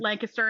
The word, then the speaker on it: Lancaster: But it is pronounced Lancaster, and I will fight you about that.